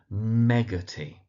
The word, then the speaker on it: Meggarty: So, Meggarty, with the emphasis on the first syllable.